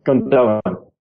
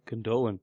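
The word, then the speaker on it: Gündoğan: Yeah, please don't say that word, Gundogan. Why? Is it wrong? Yeah, it's Gundogan. Gundogan, okay. Yeah, you don't pronounce the second G, it's got a thingy over it.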